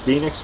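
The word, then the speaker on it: Fenyx: Number 4, Immortals, Phoenix Rising. Yes, that's how you pronounce it right there. It doesn't look like Phoenix, like the city Phoenix, but yes.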